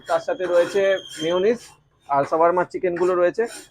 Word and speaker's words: shawarma: Maximum লোক এটাকে শর্মা শর্মা বা সবার মা, হ্যাঁ পৃথিবীর মা, এসব অনেক কিছু বলে যায়। তো অ্যাকচুয়ালি এটার প্রোনাউন্সিয়েশন হচ্ছে সাবারমা।